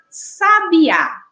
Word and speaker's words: sabiá: a palavra sabe a a gente consegue identificar um a sílaba na qual a gente pronuncia com mais intensidade né em que a